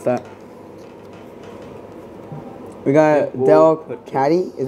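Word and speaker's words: Delcatty: that tackle and double stomp here try to pronounce that we got dell caddy is how you say it captivating tail and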